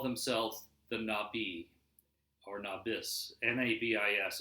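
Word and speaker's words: Nabis: they call themselves them not be our novice ma bis it's pronounced I think not B it means the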